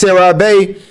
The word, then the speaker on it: CeraVe: Yeah, that's CeraVe. Okay, cool. So, I'm gonna say CeraVe, man.